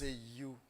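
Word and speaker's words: HU: puis vous pourrez chanter You, qui s'écrit H-U, mais qui prononce You.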